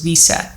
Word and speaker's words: WSET: disclaimer out there that W is pronounced as vet by a couple of people so if that's what you have heard before that is correct so is wct I